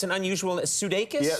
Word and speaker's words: Sudeikis: Now, first of all, am I pronouncing your name correctly? Because it's an unusual... Sudeikis? Yeah, Sudeikis.